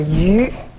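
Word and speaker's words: 鱼: good food in China the fish always come less because this is a fish in China pronounce a you why you the Chinese we say and this is because the song you means you're going to leave something for next generation for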